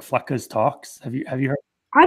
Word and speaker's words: Fleccas: street interview channels like Flecka's Talks. Have you heard? I don't know that. Oh yeah, look up like I think it's Flecka's Talks. Look up Flecka's. It's spelled weird too. It's like FLECCAS.